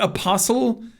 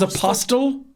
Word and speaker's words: apostle: This is like when I was a kid and I used to think the word apostle, you pronounced the T. I thought it was apostle.